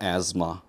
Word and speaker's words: asthma: TH하고 S가 붙어 있는데 TH는 묵음이고요. S가 Z 발음이 납니다. asthma, right?